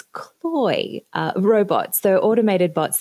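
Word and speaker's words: CLOi: Um, I always get this name wrong. It's not Cleo, it's cloy, uh, robots.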